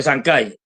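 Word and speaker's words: Chancay: inaugurado de de eh A ver si lo digo bien de sanai no se pronuncia se dice el puerto correcto de sankai pues pues eh tal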